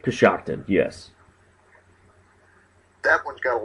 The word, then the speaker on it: Coshocton: The other town, I forget now exactly how you pronounce it, Coshocton? Coshocton, yes.